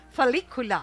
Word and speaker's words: Felicula: Felicula. Amo na mag-pronounce ang imo account name.